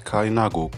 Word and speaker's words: Kalinago: know first what is a kainago the word pronounced as kainago comes from the curb word derived from kalinden